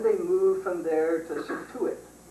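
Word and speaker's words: Scituate: move from there to satuit doesn't look like that but it's spelled s CI t a t and then finally they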